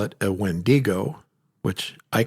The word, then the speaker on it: Wendigo: And so I think both are correct, but I think the more correct one or the closest translation to what it originally started as is the Wendigo. Putting the emphasis on that first syllable.